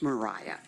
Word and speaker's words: Maria: can stick to that my name is pronounced Mariah and I live at